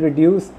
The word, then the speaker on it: reduce: In reduce, the stress is on D, deuce.